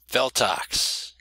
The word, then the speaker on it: Feltox: Feltox. Not buttocks. I know what you're thinking. Buttocks. Botox. Feltox. Yes, it all rhymes with one another.